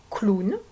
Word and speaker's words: clown: dernier cas de figure le mot clown et il ya d'autres mots comme ça dans lesquelles le w va être accolé à une autre lettre et produire le son ou tout seul voilà pour